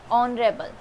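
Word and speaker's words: honourable: इसका क्या होता है प्रोनाउंसिएशन? ऑनरेबल।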